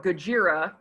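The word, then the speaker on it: ゴジラ: the bomb and hiroshima so godzilla or gajira if you were to go to japan they would that would be how it's pronounced this is more about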